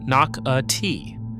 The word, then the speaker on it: Nocatee: Say it correctly, Nocatee.